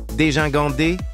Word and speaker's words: dégingandé: La bonne prononciation est dégingandé, dégingandé.